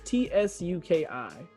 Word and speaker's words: Tsuki: positioned by suzuki or how do you pronounce this t-s-u-k-i suzuki suki p-s-u-k-i sukiya it's just tsuki okay suki basically uh